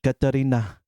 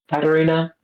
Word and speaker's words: Katarina: So in Samoa, it's actually Kakalina. Kakalina, yeah. Catalina. Kakalina, yeah. Yeah, Kakalina. Because the Yeah, letters are but switched and stuff.